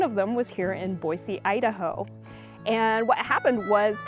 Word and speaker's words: Boise: and Boise they which I learned how to pronounce correctly it was I was saying Boise and everyone correct me it's Boise so now I know how to say it